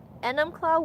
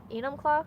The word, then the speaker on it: Enumclaw: We are in Enumclaw, Washington. Enumclaw. Enumclaw?